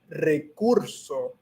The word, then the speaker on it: recurso: a recurso um yeah because first you have the the r and you would say that with like a little bit of like so rolling your your tongue a little bit and then urso urso i never really said